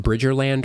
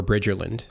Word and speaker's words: Bridgerland: and by the way is it pronounced bridge or land or bridge Erland um you know either way depends on whether you say it with the slang or not either way is acceptable so okay perfect of